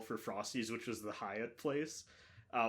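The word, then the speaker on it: Hyatt: frosties which was the Hiatt Place uh one of my friends was like oh we're almost to the Gat place because it's spelled h y a TT uh and then there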